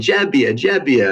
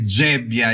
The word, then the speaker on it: Gebbia: Mezzoiuso, and everyone's saying Gebbia, and I realized, oh man, I've been saying it wrong this whole time. So yes, you got the pronunciation just right. So GE is Gebbia, is J for Italian.